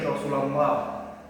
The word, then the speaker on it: Rasulullah: Cara bacanya rasulillah tidak tebal. Kalau yang tebal tadi Rasulullah.